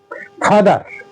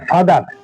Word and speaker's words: father: প্রনান্সিয়েশন ঠিক আছে আমেরিকান ব্রিটিশরা ফাদা আর এর উচ্চারণ করে না আর মিউট থাকে অনুচ্চারিত থাকে ফাদা আর আমেরিকানরা ফাদার